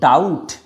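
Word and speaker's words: doubt: দেখো be silent যদি বিটি এই কম্বিনেশনে থাকে বি আরটি এই কম্বিনেশনে থাকে। দেখো কেমন যেমন হচ্ছে ডাউট ডি ইউবিটি। এই বিটি থাকার জন্য আমরা এই প্রোনাউন্সিয়েশনটা ডাবুট বলছি না।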